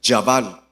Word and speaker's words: Jabal: Ada dio a luz a Jabal. pronuncian Yabal, quien fue el primero de los que crían animales y viven en carpas.